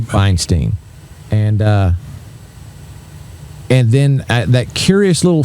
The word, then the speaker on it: Feinstein: Feinstein, I think's the way he says it. Feinstein.